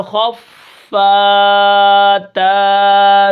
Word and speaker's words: خفت: کس طرح پڑھیں گے، خوف زبر خف، تا زبر فت، خفت، وقفن خفت، آخر میں وقف بالسکون